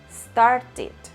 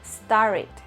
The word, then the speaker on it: started: entonces en ese caso esa ed si se pronuncia explícitamente como ed o it. Por ejemplo, start termina en T. En su forma pasada digo started o started, dependiendo del acento.